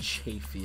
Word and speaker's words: Chafee: It's pronounced Chafee, if anybody wonders.